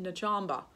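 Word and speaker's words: Nag Champa: It's written Nagchamba, but you pronounce it Nachamba.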